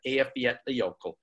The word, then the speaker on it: Eyjafjallajökull: And it took me a lot of working on that, but I can now say Eyjafjallajökull.